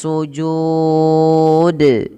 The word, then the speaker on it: sujud: Tidak hanya cukup seperti ini, warrukka'is sujud. Nah, ini salah. Kenapa salah? Karena dia tidak memantulkan huruf dal. Padahal huruf dalnya ada pantulannya, yaitu bacaan qalqalah.